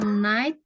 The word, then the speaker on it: night: Kalau night, GH-nya hilang. Nggak dibaca. Night gitu.